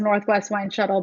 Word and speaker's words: NW Wine Shuttle: shuttle dot com so i pronounce it as northwest wine shuttle but it's nw wine shuttle dot com and that's where all